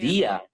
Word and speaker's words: Via: Yeah, Via.